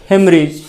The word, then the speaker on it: haemorrhage: उच्चारण है इसका हेमरेज। अमेरिकन इंग्लिश में इसका उच्चारण जो है ए नहीं, ई से हो जाता है शुरू, HEMO, RRHAGE।